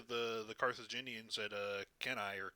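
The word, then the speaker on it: Cannae: have happened to the the carthaginians at uh can I or Kane how do you pronounce that c-a-n-n didn't the carthaginians very famously oh yeah what would have happened to the Romans can I there we go I remember it was a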